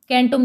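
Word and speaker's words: centum: परंतु आधुनिक भाषाओं में सी के लिए स का उच्चारण करते हैं। जैसे अब इसमें लैटिन में जो सेंटुम है तो हम इसको जब लिखते हैं लैटिन में तो इसको कैसे लिखेंगे, कैंटुम लिखा जाता है।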